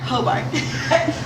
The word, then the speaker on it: Hobart: How do I pronounce it? Hobart. Hobart.